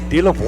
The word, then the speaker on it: Delavoie: Yeah, Delavoie. That just rolled right off your tongue. I know it. I've been practicing that ever since Coach told me how to say it.